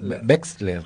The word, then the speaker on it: Wechsler: Como decía Wanda Wexler, ¿está bien ahí? ¿O no? Wexler, con X.